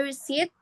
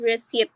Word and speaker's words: receipt: So, example, there often some pronounce the T and it becomes often and then the receipt. Some people pronounce the P and it becomes receipt which is wrong.